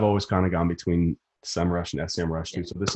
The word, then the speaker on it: Semrush: what is it officially how do you pronounce it now it's semrush summer so you used to